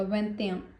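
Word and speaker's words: vingt et un: सो जब हम प्रोनाउंस करेंगे तो इनका मर्ज हो जाएगा। वें्याम वें्याम वें्याम अब 2 क्या है?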